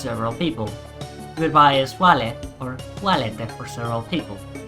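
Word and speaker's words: vale: or sanguette if it's several people goodbye is wale or walid for several people now latin has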